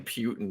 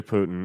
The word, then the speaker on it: Putin: war and i quit how come you keep saying putin man is that how it's pronounced no it's definitely putin i'm sorry i didn't